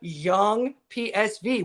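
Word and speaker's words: Jong PSV: Especially the same with their second division, the young PSV, which is the Young PSV, that's how they say it, over in the Netherlands.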